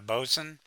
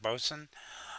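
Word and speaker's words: boatswain: Uh the Bosman, otherwise known as a a Bosen. Uh, it's pronounced, it's spelled Bosewain, but it's pronounced Bosen.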